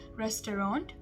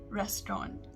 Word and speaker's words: restaurant: and the british pronunciation in the american pronunciation we pronounce it the way we spell it so it is restaurant restaurant whereas in the british pronunciation it is restaurant restaurant so it's more